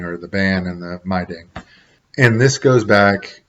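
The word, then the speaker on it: Meidung: And then there's social consequences that come along with that excommunication called my ding. It looks like my dung, but they told me it was my ding, is how it's pronounced for Pennsylvania Dutch.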